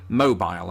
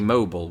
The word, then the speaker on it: mobile: In fact, the main difference here in this particular word is the pronunciation of it, and I think that's why Americans are so ready to hear me say it, because I say mobile, as I said, but Americans, they like to say mobile when referring to things that move or to the phone itself.